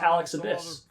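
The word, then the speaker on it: Alex Abbiss: It's pronounced Alex Abyss.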